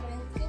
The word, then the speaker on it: Wednesday: उससे पहले देखिए आप, ये है वेडनेस, इसको वैसे लाइक गलत है, वेडनेसडे बोलते हैं, लेकिन लिखते हैं WEDNESDAY।